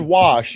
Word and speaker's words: wash: So, Doug, why do you say the word wash? You like add an extra R. You pronounce it wash. I washed it. Yeah, there's no R in wash.